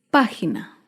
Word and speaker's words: página: Otro ejemplo de una palabra esdrújula es página. Página se acentúa en la antepenúltima sílaba. Página.